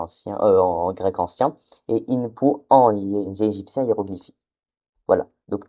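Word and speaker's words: Inpu: Et en égyptien ancien il se dit Inpou.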